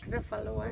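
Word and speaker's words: Refaluwasch: Rafalawash.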